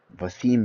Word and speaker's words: Basim: Basim. Basim. Basim is the correct pronunciation, I believe, of how the original people would say it.